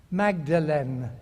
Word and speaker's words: Magdalen: I was at Magdalen College, Oxford. We pronounce it because we're like that, Magdalen.